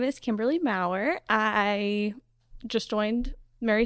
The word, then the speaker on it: Maurer: it's Maurer.